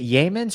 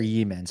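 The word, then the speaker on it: Yeamans: Um, I didn't I I didn't see it with is it Yammen's or Yemen's? I want to get the pronunciation right as well. Yammen's Hall as I understand it.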